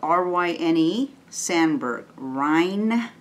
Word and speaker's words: Ryne Sandberg: It's spelled R-Y-N-E, Sandberg.